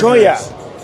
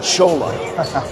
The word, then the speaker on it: Cholla: Choya. I keep wanting to say Chola. It's the Choya Chargers.